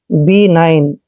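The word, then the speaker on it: benign: और जी एन देखिए एन से पहले जब भी जी आता है तो जी साइलेंट हो जाता है ये ध्यान रखना है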